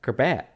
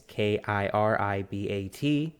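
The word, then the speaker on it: Kiribati: Now, that's similar happening to the island of Kirbat. am I pronouncing that wrong? It's Kiribat.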